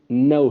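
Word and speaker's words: know: अब इसको आप खनऊ तो नहीं पढ़ेंगे, इसकी करेक्ट प्रोनाउंसिएशन नऊ है। अगर खनऊ बना दिया तो ये गलत हो जाएगा।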